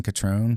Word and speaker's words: Catron: Yeah, just everything is under my name Catron. C A T R O N rhymes with Patron Tequilas. The same just with a C.